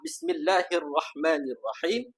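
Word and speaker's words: بسم الله الرحمن الرحيم: Pada aa kalimah bismillahirrahmanirrahim sering kita mendengarkan bacaan pada kalimah bismillahirrahman hirrahman. Okey. Jadi punca permasalahan permasalahan bacaan adalah pada huruf ra.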